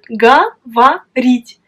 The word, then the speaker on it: говорить: Mais pourtant, on prononce говорить. Parce que l'accent frappe la voyelle I. Говорить. Et les deux O restent inaccentués. Et donc, on les prononce comme A.